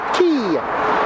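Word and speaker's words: quay: Opera House via secular key that's key with a q-u-a-y why I don't freaking know that's how we spell it as you can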